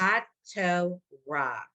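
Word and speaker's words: התורה: So hot toe ra. And the H Okay. is silent.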